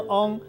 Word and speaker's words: 旺: 今仔日要甲大家小解这一日，咱做伙来看到这个读做翁，翁翁翁，读第 7 条读做翁。